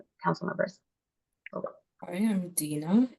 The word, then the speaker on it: Dina: I am Dina. It is pronounced Dina, not Deanna, and I'm strict about that, so please be mindful.